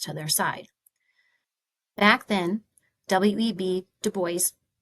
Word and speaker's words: Du Bois: Back then, W.E.B. Du Bois, rhymes with voice, and Booker T.